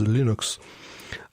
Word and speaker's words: Linux: name is Linus Torvalds the proper pronunciation of Linux is Linux and now to me